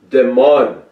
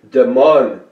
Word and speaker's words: DeMunn: However, an update is that Jim Pace is the actor known as Jeffrey DeMunn. I think that is how you pronounce that. And it's spelled D-E-M-U-N-N, like demon.